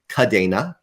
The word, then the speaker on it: Kadena: is based on the Spanish word for chain which uh starts with a C instead of a k c a okay e-n-a and so my recollection is that we decided to say the Spanish pronunciation is the one that we are going to go with which would be kadena um but I think